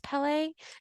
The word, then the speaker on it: Pelée: I know I'm really having a hard time not saying Pele, but I'm pretty sure it's Pelée.